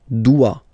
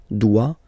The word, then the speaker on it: doit: Il, elle, doit. Final T not pronounced. Il doit, elle doit.